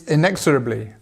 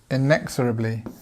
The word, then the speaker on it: inexorably: a think yep it's inexorably inexorably there's where our stress is now it means